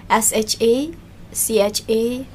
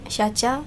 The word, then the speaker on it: Shacha: my full name is shaa and you spell it like s h a c h a shacha then shaa